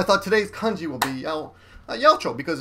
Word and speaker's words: 八百長: Pronounced together, it's Yaochou. Yaochou. Then it says sannin, 3 people.